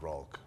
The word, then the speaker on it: Rulk: But in Portuguese, H is R, so it's spelled with R.